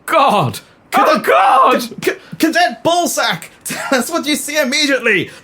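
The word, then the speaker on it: Sach: officer Cadet Harry ballat I presume that the pronunciation you intended it's sack like s a c h like J says sack what should just go a SAT well no it's it's pronounced sack is that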